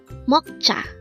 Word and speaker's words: 먹자: Meokja. Meokja. This is pronounced as a two-syllable word. The first syllable is mok, the second syllable is ja.